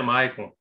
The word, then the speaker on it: Michael: comentei com a Kelly a escrita do meu nome é Michael a pronúncia é Maicon que nem eu falei